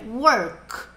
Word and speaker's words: work: Ah, não vamos falar work com i no fim. É work, work, work.